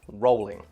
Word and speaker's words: Rowling: that is how it is pronounced it is pronounced Rowling and we know this because JK Rowling herself